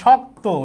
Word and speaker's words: শক্ত: তাহলে শক্ত এটার উচ্চারণ কি? শক্ত। শক্ত এখানে ক ত আছে কিন্তু ত এর উচ্চারণটা ও এর মত হবে।